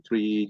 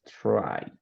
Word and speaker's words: try: In order to improve your temper, you call tree yoga. Okay, you will try, it's pronounced try.